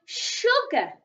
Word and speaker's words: sugar: This is the word sugar. Sugar. So it's almost as if the letter S needs to make a sh sound in that word. Sh, ug, sugar.